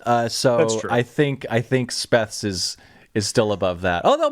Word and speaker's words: SPETHZ: So Speths. Yeah. Terrible decision. I mean, there's a band called the Butthole Surfers. So That's true. I think Speths is still above that.